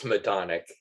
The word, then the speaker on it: Madonik: Madonik? Okay, Madonik. It's Madonik, yes.